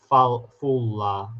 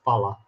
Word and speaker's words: Fulla: You pronounced my channel right. Most say Fulla. Yeah, it's Fulla.